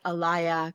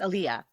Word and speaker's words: Aliya: He kept saying Alaya. And I'd be like, it's Aliya, you know?